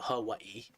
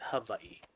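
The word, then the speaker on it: Hawaiʻi: I'm originally from Hawaii, which some people I know, they pronounce it Hawaii. But the real word, the native Hawaiians pronounce it Hawaii. Now I have native Hawaiian blood in me. So, and I like to try to pronounce it correctly, so it's pronounced Hawaii.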